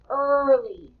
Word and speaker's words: early: And do you hear the first sound in early? We hear the Kind of tricky. The E was silent, wasn't it?